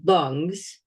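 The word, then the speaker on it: རླུང་: And it's spelled the same way as your lungs, okay? But in Tibetan, it's pronounced lung with a long O, okay?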